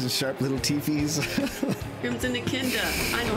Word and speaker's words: Echidna: Crimson Echidna. I know how to say Echidna now. Echidna.